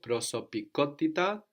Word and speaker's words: προσωπικότητα: Because we have the accent on the ko, προσωπικότητα, third from the end, so we come up again to join it all together.